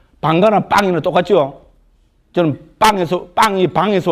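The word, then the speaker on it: bhaṅga: 방가나 빵이나 똑같죠? 저는 빵이 방에서 왔다고 봅니다. 우리는 방가라 하지만은, 지금 힌두, 힌디하고 마라티 같은 인도에서는 맨 뒤에 A는 발음 안 합니다. 방가, A 빼보면 빵.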